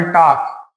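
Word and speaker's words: Tag: हम टाक बोलते हैं। यहाँ पर टाग नहीं बोला जाएगा, यहाँ पर क्या बोला जाएगा? टाक बोला जाएगा।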